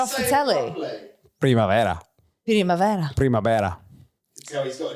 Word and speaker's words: Primavera: Good pronunciation as well from you. Primavera. Loads of Brits when we were there like, we're at Primavera, Tom. Or Primavera, that one's a popular one. Primavera. As in like Vera off the telly?